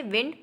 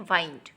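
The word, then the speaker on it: wind: called वाइंड ठीक है सो आपने देखा डब्लू आई एन डी two times हमें दिख रहा है लेकिन इन दोनों की प्रोनंसिएशन और मीनिंग डिफरेंट है फर्स्ट वाला क्या है विंड और सेकंड वाला क्या है वाइंड आइए नेक्स्ट होमोग्राफ देखते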